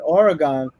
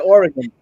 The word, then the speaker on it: Oregon: And then in the talk in Oregon, I still say Oregon. They told me I'm saying it wrong. They'll say Oregon.